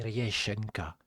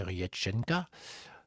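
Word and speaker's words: Реченька: Puis arrive l'une des prestations les plus marquantes de sa carrière et Renchenka que l'on pour prononcer Riéchenka dans un décor sombre inspiré pardon du folklore russe Diana transforme cette chanson traditionnelle en une véritable incantation.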